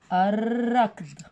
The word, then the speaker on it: الركض: ثانيا، الركض ال لكن لام شمسية تكتب ولا تلفظ.